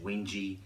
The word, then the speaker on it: Wenge: I checked on the pronunciation of Wenge. I've heard it, you know, a few different ways, Wenge, Wenge. I think you can rest assured that the correct pronunciation is Wenge.